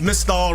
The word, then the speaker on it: Mystal: It's Mystal rhymes with Crystal.